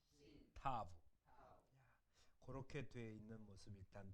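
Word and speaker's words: תָּו: 맨 마지막 단어 타우가 아니라 타브라고. 왜냐하면 이 W를 아까 위에 바브라고 했지 와우라고 안 했잖아요. 그러니까 맨 마지막이 타우가 아니라 타브라고 발음해요. 타브. 그건 고치시죠. 타우가 아니라 타브라고 발음합니다. 타브.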